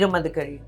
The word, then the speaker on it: Veera Madakari: Yeah, but your first movie, Veera Madakari, right pronunciation, right? Veera Madakari.